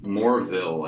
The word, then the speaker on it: Morville: Goes by Morville, I believe. Is that Did I pronounce it right?